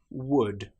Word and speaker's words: would: Another time when the letter L is not pronounced is when we have the letters U, L, D. For example, the word would, could, should. In these cases, again, the L is completely silent.